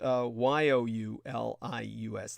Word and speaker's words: Julius: It's spelled Julius, but it's pronounced Youlius, like Julius. That's a kind of Prussian or Slavic pronunciation. The J is pronounced as a Y.